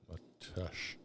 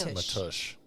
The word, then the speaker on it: Mateusz: Do you want me to spell Matej's name for you? Yes. So you can understand it? MATEUSZS. Matush. I had to put it into. I'm telling you, Matush.